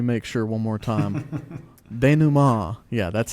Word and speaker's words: denouement: Denouement.